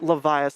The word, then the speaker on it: Levia: Chung the dev himself that is pronounced leviath that's how we're saying it this entire stream all right just freaking levia as in Leviathan we've got Jacob exactly